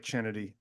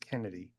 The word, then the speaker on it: Chennedy: your name was chennedy well it looks like chennedy it's pronounced Kennedy no stop it no